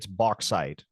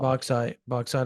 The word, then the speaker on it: Bauxite: By the way, it's Bauxite, Arkansas. Bauxite, Arkansas. Whatever. Bauxite. It's spelled Boite. It spells the X is silent.